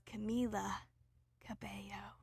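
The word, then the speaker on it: Camila Cabello: and cam Camila Cabo the L's in her first and last name are pronounced differently and that always shits me up it's all it's I want to say ca Cabo and then I'm like no it's Camila Cabo okay these songs are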